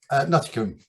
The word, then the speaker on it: Nuttycombe: I was wondering where to start, but start with, firstly, can I get the pronunciation right? Is it Nuttycombe, Nuttycombe, or Nuttycombe? Nuttycombe.